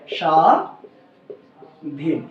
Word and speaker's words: স্বাধীন: হবে তাহলে বস তাহলে এটার উচ্চারণ হবে সা ধীন তাহলে আশা করি তোমরা